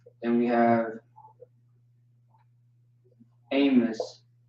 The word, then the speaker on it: Amos: This is not Amos, it's Amos. And the proof of that is Amawas. Amos, Amawas, Amos. Okay? Amawas, Amos. That's how you pronounce that.